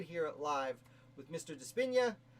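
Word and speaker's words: DiSpigna: Despina. The G is silent. I've been pronouncing his name wrong for several years.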